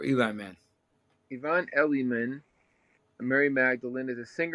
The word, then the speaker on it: Elliman: I think the way you pronounce it is Yvonne Elliman, or Eli Man.